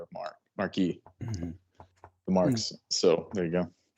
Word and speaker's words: marque: I'll letter letters of mark. Uh it's spelled Marque.